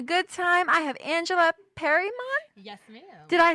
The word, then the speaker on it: Perymon: I have Angela PERYMON.